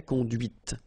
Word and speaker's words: conduite: Okay, so here you can listen to this t, t, okay, conduite.